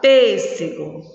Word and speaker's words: pêssego: mágico relâmpago vamos lá pêssego qual é a sílaba forte pés na palavra mágico sílaba